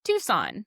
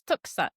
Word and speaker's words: Tucson: And of course over time it was anglandized to just Tucson. But it makes sense that people when they first see it, if you don't know how it's currently pronounced um just by the way it's written, people think it's tou. Yeah. Which would be actually closer to the original word that it comes from.